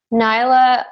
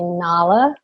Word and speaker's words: Nala: movies are those from nyla is from Lion King and I have been told that we say it wrong it's supposed to be Nala Oda is from brother